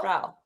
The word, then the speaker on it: Frau: Okay, so how do you pronounce the word Frau? Fro? Frau.